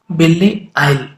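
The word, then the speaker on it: Belle Isle: हुआ है ये है बेल्ले आइल। थोड़ा सा प्रोनाउंसिएशन इसका ध्यान से करिएगा, BELLE तो बेल्ले हो जाएगा, ISLE का जो प्रोनाउंसिएशन होगा उसमें जो S होता है वो साइलेंट होता है।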